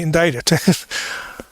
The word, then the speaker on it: indicted: Indicted. When you read it, it doesn't look that that's the way you pronounce it now, does it?